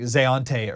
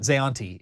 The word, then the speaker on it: Zanti: to get this right zanti I think is zanti zanti I was pronouncing Zante or Zante or something like that zanti is is how it's pronounced properly it's what Terry told me both of those